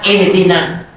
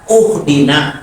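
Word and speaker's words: اهدنا: Wa hamzatu ihdina, dan hamzah pada ihdina ya dibaca uhdina gitu ya, itu enggak bermasalah karena bentuknya tidak merubah makna.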